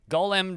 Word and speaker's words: Golem: Golem does not rhyme with colon, but at least I wouldn't say that those two rhyme. It's close. They sound similar. Column, yes, column would rhyme with the name of that video game.